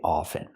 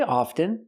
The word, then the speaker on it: often: say it both ways I prefer to pronounce it with the silent t i don't pronounce the T I say often I speak English very often you can say often and some people do